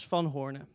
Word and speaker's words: Van Hoorne: cool so my name is fun Horner and this is a bit hard to pronounce so you can also say I've